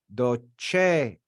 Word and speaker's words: docere: you docere I said we we accent the second to last syllable we accent that first e we say docere because it's long in